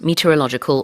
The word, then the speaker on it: meteorological: according to the World Meteorological Organization. 요 meteorological, 요 발음이 참 쉽지가 않은데요. 강세를 logical에다가 넣는다라고 생각하고 그냥 눈 딱 감고 발음을 하셔야 됩니다.